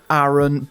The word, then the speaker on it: Aaron: it is of course aaron sorry i'm sorry sorry can i just connect yeah what's up man sorry my name my name is pronounced aaron so it's it's there and not aaron oh so is it